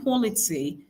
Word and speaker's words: quality: So the first syllable receives the stress in this particular one.